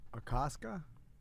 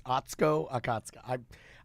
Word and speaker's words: Atsuko Okatsuka: Akaska? Atsuko Okatsuka. Okay. It's Atsuko Okatsuka.